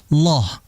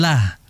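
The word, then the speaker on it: الله: Di situ dibaca dengan loh, bukan lah.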